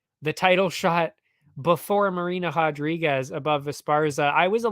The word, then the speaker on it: Rodriguez: That would be the other Rodriguez in this case, Marina Rodriguez. And well, it's actually Rodriguez is D-Rod, which makes sense because he's American. Marina Rodriguez is Brazilian, so you pronounce it differently.